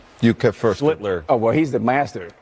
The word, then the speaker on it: Schlittler: Schlittler. Oh, well, he's the master. Schlittler. Schlittler. You now your turn. Sound like Hitler.